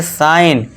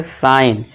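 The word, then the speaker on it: sign: साइन। क्यों? क्योंकि दोस्तों देखिए जी के बाद क्या है हमारा? एन है। तो जी साइलेंट हो जाएगा। इसे क्या पढ़ेंगे? साइन।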